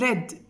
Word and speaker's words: read: down became sat down read becomes red the same spelling but the pronunciation is different read in the past here read in the present the fourth one is